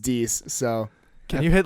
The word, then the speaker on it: dix: Oh, it's Dix, but it's spelled. Dix? Yeah, but it's Dix spelled. what? It's spelled Dix. So I was gonna say Dick. Dicks. Episode Dicks, boy, Look at let's you over go. there. But it's D. It's Episode- pronounced Dix.